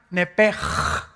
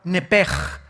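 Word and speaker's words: nephesh: Entonces se pronuncia nepj.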